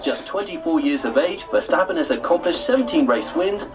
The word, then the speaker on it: Verstappen: have said actually it's for stop in it was like with an f not a v first happen now i'm